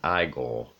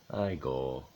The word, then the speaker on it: Igor: Son of Frankenstein was the first Igor, but of course it's pronounced Eyegore. Eyegore.